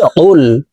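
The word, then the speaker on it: قُلْ: কফ লাম পেশ কুল। কফ হরফের উচ্চারণ জিহ্বার গোড়া তার বরাবর উপরের তালুর সঙ্গে লাগাইয়া উচ্চারণ করতে হবে।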